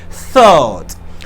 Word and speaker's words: thought: Thought. You should put your tongue in between your teeth.